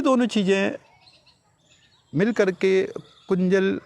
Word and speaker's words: कुंजल: गजकरणी भी कहते हैं, बट कुंजर नहीं है, इसे कुंजल ही कहा जाए। कुंज मीन्स हाथी, जल मीन्स वाटर, तो ये दोनों चीज़ें मिल करके कुंजल का निर्माण करते हैं।